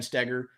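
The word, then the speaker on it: Stoeger: than you and Ben Steger, two best channels out there. Yeah, and we both have last names that have the darn German OE that isn't pronounced like OE.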